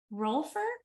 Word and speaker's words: rolfer: And Nina has since become a certified rolfer.